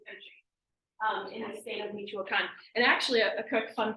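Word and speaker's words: Michoacán: And so for those of you who know maybe some of the states, Michoacan is how it's pronounced.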